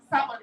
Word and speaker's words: salmon: Salmon. L is silent.